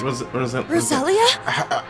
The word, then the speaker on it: Rosalia: Rosaline. Wait, Rosalia? There it is. That's how you say it.